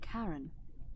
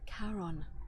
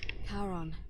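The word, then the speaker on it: Charon: It's just as you described it, only your pronunciation is a little off. The name you heard wasn't Karen. It was C H A R O N. All right. As in Karon, the fairyman of the dead.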